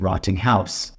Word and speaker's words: Rottinghaus: a u s uh despite how it sounds rotting C German I like to pronounce it rotting house oh yes this is